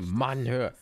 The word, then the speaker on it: Mannhöhe: Da sind zwei N. Das ist deutsche Aussprache. Mannhöhe. Muss es wie ein Deutscher aussprechen?